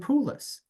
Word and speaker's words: Poulos: and award-winning author, Poulos. Welcome. Hey. Nice to be here. I just realized our last names are not spelled the same, but they rhyme. It's Goulas and Poulos.